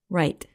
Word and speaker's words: rite: Right.